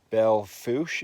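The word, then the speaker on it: Belle Fourche: and then here into Belle foosh it's pronounced and then we dropped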